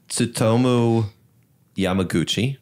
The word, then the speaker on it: Tsutomu Yamaguchi: Tsutomu Yamaguchi. Perfect. Oh, nice pronunciation.